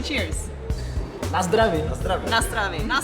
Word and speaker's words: Na zdraví: Na zdraví.